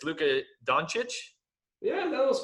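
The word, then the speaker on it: Luka Dončić: And I'm sure I'm going to get his name wrong, but it's Luka Doncic?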